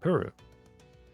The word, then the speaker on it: Ple: Because I'm used to it being Puru, which is how it sounds like it's being pronounced in Japanese. I guess it's PLE, so it's Pulu. Yes?